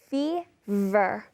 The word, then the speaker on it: fever: you have a fever focus on that pronunciation of the V fever all right so you